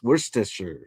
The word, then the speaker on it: Worcestershire: Yes, you do say the Shire part. Worcestershire sauce. Worcestershire sauce.